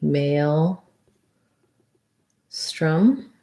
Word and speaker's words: maelstrom: guitar that o is a schwa so it would be male strum like that but let's just double